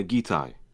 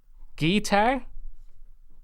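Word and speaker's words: Gitai: Uh, Gai. Guitar.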